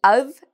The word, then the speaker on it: of: sentences out loud, and change the of to an sound, an unstressed sound. And that will really help your pronunciation, and it will also make it easier to say, because again, of is harder to say than All right, so thank